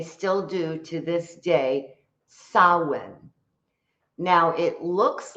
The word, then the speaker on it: Samhain: Samhain is how it's pronounced, even though it looks like it says Samhain.